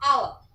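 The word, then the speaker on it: hour: अगर मैं लिखूं यहाँ पर आवर, तो इसमें एच साइलेंट है, ठीक है, तो आवाज किसकी आ रही है? आवर, तो इसमें आवर से पहले क्या लगाओगे?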